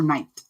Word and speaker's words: knight: like, you know, Sir Knight. Or as my nephew pronounced it for the longest time, Knight. He was always so angry that there was a K there and you didn't pronounce it.